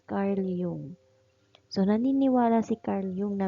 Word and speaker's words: Carl Jung: Nandito na tayo kay Carl Jung or um ang tamang pronunciation is Carl Yung.